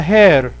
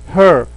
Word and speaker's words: her: okay وهذه لو سمحتوا ما حد يقراها hair، عشان hair معناها شعر. اوكي هذه تنطق her her، me him her it you her، وليست hair.